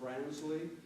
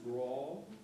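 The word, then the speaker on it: branle: The two of the movements here are, it looks like they'd be pronounced Bransley. That's actually pronounced brawl.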